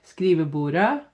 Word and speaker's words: skrivebordet: So here we have et skrivebord a desk skrivebordet again we don't say the T the desk skrivebord desks